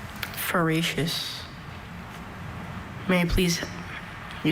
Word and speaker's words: feracious: Na decided to can some of the tomatoes from her extraordinarily fa feracious plants. May you please repeat the word feracious. May I please have any alternate pronunciations?